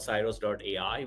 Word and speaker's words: Ciroos: We company, as you pronounce, it's called Cyros.ai.